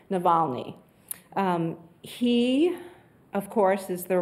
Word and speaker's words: Navalny: The next one is Alexei Naval. I've been saying his name, and I wanted to, there's an extra Kyrie. Alexei is how you say his first name, Navalny.